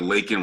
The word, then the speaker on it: Lakin: That's why every time I meet people, I'm always like, Lakin rhymes with bacon, and they're like, your name is Bacon?